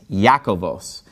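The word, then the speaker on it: Ἰάκωβος: the first word here james in greek is yakovos and you'll notice it's very similar to the name jacob that's because the name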